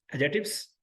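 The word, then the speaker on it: adjectives: ये इंग्लिश का असूल है कि जब कभी भी डी जी और डी जे एक साथ आ जाते हैं तो डी साइलेंट होता है।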